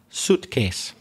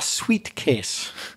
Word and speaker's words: suitcase: mispronounced by Spanish speakers I'm talking about a suitcase not a sweet case a sweet case would